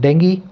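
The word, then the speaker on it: dengue: हुए एक नए अप्रूव डेंगी वैक्सीन को। देखिए डेंगू आप बोलते हैं, डेंगू बोलते हैं, इसका सही प्रोनाउंसिएशन क्या है, डेंगी, डेंगी बता रहा हूँ मैं आपको, देखना किसी डिक्शनरी में।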